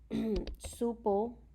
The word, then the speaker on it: supe: si o pay and it is pronounced supe you're super to soupy